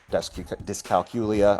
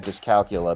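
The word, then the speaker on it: dyscalculia: It seems like you said Discalcula, but there's an I between the Yeah, calculia.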